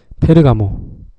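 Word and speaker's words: Ferragamo: 그리고 또 그다음에 좋아하는 거 페르가모. 살바토레 페레가모, 네, 발음 좀 꼬였네. 페르가모라고도 하고 페라가모라고도 합니다.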